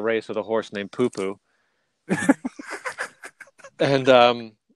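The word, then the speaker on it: Pupu: One of the first times I called a race with Poo Poo being in the race, and just everybody, you know, it is spelled P-U-P-U, but anyways, first time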